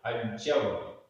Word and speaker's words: अज्जव: अज्जव णाणम, अज्जव, आधा ज पूरा जा, अज्जव णाणम।